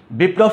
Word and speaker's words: বিপ্লব: ওকে, তুমি দেখো, অর্থাৎ যে বর্ণের সাথে ল ফলাটা যুক্ত হয়েছে সেই বর্ণটা দুইবার উচ্চারণ হয়েছে, দ্বিত্ব উচ্চারণ হয়েছে।